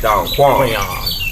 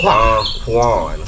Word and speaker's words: Don Quan: My name is still pronounced Don Kuan. My name is still pronounced Don Quan. It's Don Quan. It spelled exactly the way it spelled.